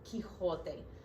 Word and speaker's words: Quixote: with an X, but it's still pronounced the same, okay? It's still Quixote.